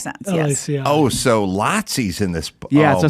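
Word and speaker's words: Laci: gorog throughout the place l-a-c-i-e that's how he would he would pronounce oh like lots that makes sense oh so lotsies in this book yeah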